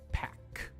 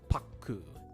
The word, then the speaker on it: pack: And it's pack, not paku.